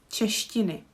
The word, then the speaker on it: češtiny: And with the last word, there is a syllable ti, češtiny.